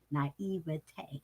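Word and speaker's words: naïveté: I can't remember how I was trying to use it, but now I know how to pronounce it. Thank you. Naivete.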